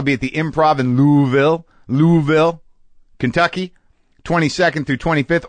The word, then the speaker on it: Louisville: at the Improv in louville louville Kentucky 22nd through 25th or Louisville pronounced uh properly but Louisville pronounced if you're a local uh this episode of